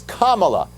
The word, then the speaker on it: Kamala: the correct way to say her name it's kamala so maybe someone should tell joe biden that's